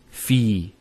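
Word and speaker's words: فِي: So the first word is fi. So you notice there's the elongation, the long vowel.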